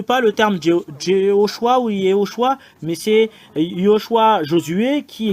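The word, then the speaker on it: יהושע: qui est Yoshua et je corrige tout le monde que la vraie vérité c'est c'est ça le nom de Josué c'est Yoshua le vrai euh et c'est faux toutes les choses que vous voyez ce sont tous des faut je vais mettre une remarque ce sont des faux noms voilà c'est un faux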